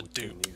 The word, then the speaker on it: DUP: I pronounce this dup, but they call it the dupe. Powers. You know, D-O-O-P instead of D-U-P.